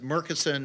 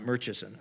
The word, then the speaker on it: Murchison: I was told just like it's Murchison not murcheson okay he was the